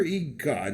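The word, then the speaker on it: EGOT: one of the 15 ego tea winners or e-god as it's pronounced by the New Yorkers Adam gopnick at the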